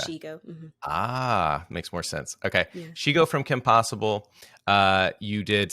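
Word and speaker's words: Shego: Shigo, like Shigo. ego, but she's a she, Shigo. so okay. Shigo. Makes more sense. Okay, Shigo from Kim Possible.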